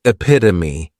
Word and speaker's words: epitome: Next is epitome. And this noun has four syllables and the stress is on that second syllable.